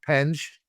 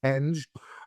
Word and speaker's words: Penge: Marco Pang P or uh Penge is how you pronounce it. We're going to have to remember that. It's Penge.